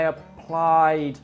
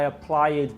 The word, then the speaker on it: applied: Or I applied for a job, not I applied for a job.